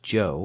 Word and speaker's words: Cho: Joe is amazingly Cooperative Joe spell it Cho if you want to be exotic it's still pronounced Joe and that's his name